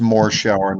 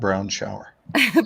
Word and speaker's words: Morshower: It's pronounced Morshower, not brown shower.